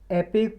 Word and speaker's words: epoch: ये देखो एपेक pronounce किया जाता है, इपोक लिखा हुआ है, और एंथ्रोपोसीन को हिंदी में एंथ्रोपोसीन ही बोलते हैं।